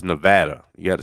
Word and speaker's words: Nevada: And it's not Nevada, it's Nevada.